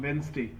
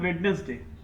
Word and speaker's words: Wednesday: Modi announced in an unscheduled leg of travel to Doha on Wednesday. अब जैसे कई लोग इसे प्रोनाउंस करते हैं Wednesday, but the right pronunciation is Wednesday.